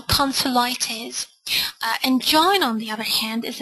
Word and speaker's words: angina: It's actually pronounced angina in English.